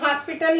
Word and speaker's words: हॉस्पिटल: इन दोनों शब्दों में ये जो अर्धचंद्र है, इसका उच्चारण जब हम कर रहे हैं, यहाँ पर ध्वनि हमारी आ की निकल रही है, तो इसका उच्चारण जो है ओ के रूप में हो रहा है।